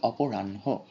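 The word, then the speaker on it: অপরাহ্ণ: এরপর হচ্ছে আমরা লিখি অপরাহন কিন্তু উচ্চারণ করি অপরাণ্য।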